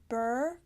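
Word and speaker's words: beurre: in and take a look this is the bur color white that's how you pronounce it it looks b ii u RR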